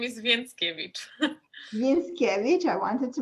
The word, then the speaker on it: Więckiewicz: spell your name yes my last name is vince kevich vince cabbage i wanted to make sure that i don't completely ruin the pronunciation here so on the barricades we discussed